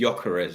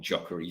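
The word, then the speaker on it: Gyökeres: the huge one, Big Jokeres. man. Or sometimes I think the pronunciation is Jokeres, apparently not Jokery, so you don't pronounce the G.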